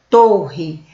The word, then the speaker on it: torre: na pronúncia vamos lá torre olha a pronúncia fechada torre construção alta e estreita torre agora eu vou